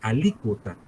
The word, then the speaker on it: alícuota: parte alícuota otra parte parte alícuota un acento en la y oculta parte ok 30